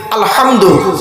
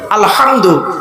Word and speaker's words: আলহামদু: বোনেরা শুদ্ধ করে নিন আলহামদু এ গলার ভিতর থেকে হে এটা উচ্চারণ করবেন আলহামদু আলহামদু মানে হচ্ছে সমস্ত